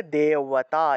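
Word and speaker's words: দেবতা: তারপরে দেওয়াতা, এই বটা হলো আবার অন্তস্থ ব। তাহলে দেওয়াতা, দেওয়াতা, দেওয়াহা, এইভাবে।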